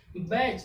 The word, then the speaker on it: batch: CH के पहले टी आ गया तो टी क्या हो गया? साइलेंट हो गया। जब टी साइलेंट हो गया यानी क्या बच गया? BACH, बैच। बैच मीन्स कोई भी एक दल हो।